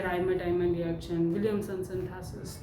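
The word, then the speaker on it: Reimer–Tiemann: कौन सी रिएक्शन है, राइमर-टाइमन रिएक्शन, ठीक है। कई लोग राइमर-टीमन रिएक्शन भी बोलते हैं, तो इट्स फाइन, प्रोनाउंसिएशन में कुछ भी बोल सकते हैं, ठीक है।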